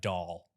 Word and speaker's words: Doll: We went through all the pronunciations and I looked over this one Brevin Doll. Like a yeah, baby doll.